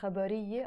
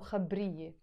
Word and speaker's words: خبرية: So for example, in life, if I want to say the word khabariye, I pronounce it as a khabariye or khabriye.